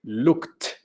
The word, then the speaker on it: looked: No vibran las cuerdas vocales. Ed suena T. Looked.